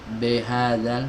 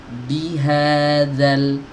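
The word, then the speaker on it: بهذا: Bi, jangan b. B hadzal, salah. Bihadzal, bihadzal. Sempurnakan harokat kasroh, fathah dan dhammahnya.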